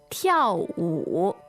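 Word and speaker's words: 跳舞: 跳舞, 跳舞. All right, so that is fourth tone and third tone, right?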